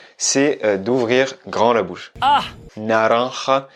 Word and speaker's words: naranja: Naranja. Plus tu vas ouvrir la bouche, plus tu vas avoir des facilités pour le prononcer.